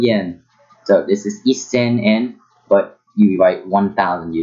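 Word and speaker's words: 円: So even though you say isen en, so that in Japanese the yen is used and it's pronounced en, not yen. So because there's no ye in the hiragana alphabet.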